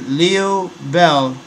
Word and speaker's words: Liu Bei: a general serving under Leo Bell of the kingdom of Shu Leo Bell is spelled Liu Bei new bank may be